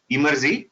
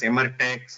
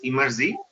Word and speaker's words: Emertxe: Some of them will pronounce as Emertex or Emertexi, various ways people pronounce. But the real way to pronounce it is Emerzi. This Emerzi word is nothing but if you take the word extreme and reverse, you'll get this particular word called Emerzi.